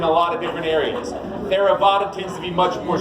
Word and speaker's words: Theravada: Right, Theravada, like Theraflu, but Vada instead of flu.